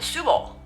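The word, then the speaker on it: Søborg: meet another Danish Karen, it will be something like Subo. So where did all the letters go? I have no clue, but that's how you say it.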